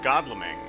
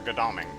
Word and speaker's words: Godalming: But since you're planning on doing a future trade with Godlming, or Godalming, if you want to pronounce it correctly, but as I say, as an American, I'm required to pronounce all these things incorrectly.